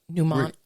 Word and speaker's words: mnemonic: which is a um how do you say that mnemonic mnemonic okay so i know we're awful at this it's uh m n e m o n i c mononic right pneumonic okay so